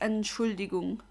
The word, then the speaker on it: Entschuldigung: I mean, a lot of German words are pretty long, but what you can say is Entschuldigung. Entschuldigung. That's how you pronounce it.